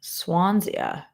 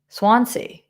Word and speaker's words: Swansea: I have ice cream barn in Swansia. Where the is Swansia? Huh? Never heard of it. Just don't know it. Um, all right. Swansea.